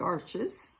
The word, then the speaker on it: Arches: I started, finally, settled on Arches in, I guess the correct pronunciation is Arche.